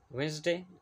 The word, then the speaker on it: Wednesday: silent under line e Wednesday D is silent dumb B is silent